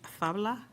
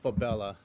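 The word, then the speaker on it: Fabela: Our next public speaker is David Fabla, also representing UFLAC. It's pronounced Fabella.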